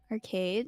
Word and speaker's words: RCVDE: Arcade has they have a lot of more members.